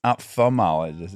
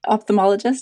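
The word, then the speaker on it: ophthalmologist: an opthalmologist would yes opthalmologist isn't that what it is opthalmologist yeah yeah it's spelled with the th but I usually drop the H yeah maybe it's a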